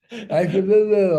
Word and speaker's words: Ashtabula: How do you pronounce that? Ashtabula, Ohio.